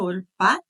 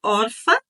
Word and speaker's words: Orpa: uma se chamava orpa no original ou talvez a pronúncia melhor seria orpa não é porque é uma palavra feminina orpa na nossa tradução nós falamos orfa tá não é de orfan de pai e mãe mas é orfa um nome certo e o nome da